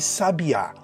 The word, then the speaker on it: sabiá: Peguemos as palavras sábia, sabia e sabiá. Cada uma possui uma sílaba tônica distinta e com um significado próprio, completamente diferente das outras.